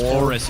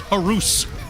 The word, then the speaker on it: Horus: the Beyblade metal series they they mispronounce Horus I don't think I've told you this um yeah yeah how do you think they pronounce how how in the world do you mispronounce Horus right like how do you think they pronounce Horus in Beyblade um horse uh no it's horuse all right I have